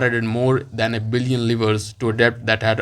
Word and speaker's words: livre: Let's find out the pronunciation of liver. On American, we can find out the pronunciation, obviously, or along with the meaning. Livre. Livre. It's livre.